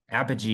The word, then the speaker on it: Apogee: company name and I'm going to try to pronounce it. It's I think you said Apogee. Apogee.